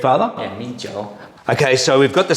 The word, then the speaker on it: Mijiu: So rice wine is pronounced Mijiu in Chinese. Is that correct, Father? Yeah, Mijiu.